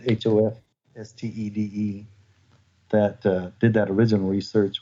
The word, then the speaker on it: Hofstede: Yeah, that was, I'm not sure how to pronounce his name. I think it's Hofstede, Hofstede, that did that original research with the IBM employees.